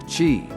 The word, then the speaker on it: qi: circulate the Chinese call this energy flow Qi pronounced Qi Qi is the energy force that supports all